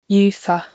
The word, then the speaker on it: used to: First, the D is silent. You say use not used.